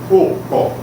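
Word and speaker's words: ọkọ́: Observem a palavra enxada. Ela tem o que seria um acento agudo no segundo O e um oclusivo no primeiro O. E a pronúncia fica ocó.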